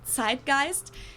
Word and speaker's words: Zeitgeist: good word sist I like in German we pronounce it sist and this consists of the word TI which